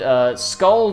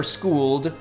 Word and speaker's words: Skuld: So another one of his friends, a girl named Skuld or Skuld, depending on how you want to pronounce it, named the same name